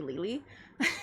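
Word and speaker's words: Lili: which people pronounce as Lily, but it's actually Lely cuz I go by the last syllable of of my name and not the f.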